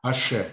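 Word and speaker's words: השם: Одно из имен Всевышнего, которое мы в нашем издании произносим как Ашем, да?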